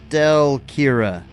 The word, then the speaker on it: Stelkira: Stelkira. Yeah, like okay. Akira, my cat Stella.